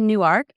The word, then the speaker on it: Newark: So I live in Newark, Delaware, which is spelled like Newark, New Jersey, but it's actually Newark. because when they made the map to the northern part of Delaware, it was drawn with a compass to make an arc.